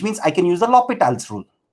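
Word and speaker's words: L'Hôpital: Some people also call it as L'Hospital's rule, but the appropriate French pronunciation of this is L'Hopital, right?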